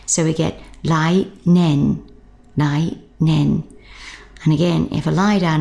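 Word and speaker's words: 年: with that lai, only we're going to be pronouncing the year part nen, which is a pronunciation you should be familiar with, for example, a primary school first year student. Remember we learnt shogaku ichi nen sei, so that nen means year.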